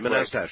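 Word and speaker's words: Manastash: How do you pronounce the name of your town? Manastache. Oh. Oh, Manastache. Manaste.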